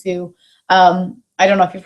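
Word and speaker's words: Tsu: So Sue, T-S-U-E, but it's pronounced Sue.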